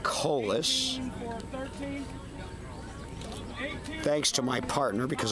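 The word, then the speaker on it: Kaulius: Colis, K-A-U-L-I-U-S, pronounced Colis.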